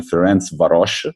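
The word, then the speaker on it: Ferencváros: And Dinamo Kiev and Ferencvaros, I learned it's a correct pronunciation.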